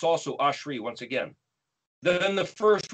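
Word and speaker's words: אשרי: section of aleph is spelled alef sheen reshod pronounced ashri the first word of the second verse starts with an aleph it's also ashri once again then the first word of the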